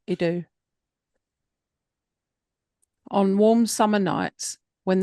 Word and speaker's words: Edo: Long ago, in the streets of old Idu, I don't know if that's how you pronounce it, and I apologise. Here it is, Edo. Edo? Edo? Just choose one and run with it.